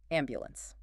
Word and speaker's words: ambulance: Let's put the pieces back together, placing the heavy stress on the very first syllable. Am by ambulance.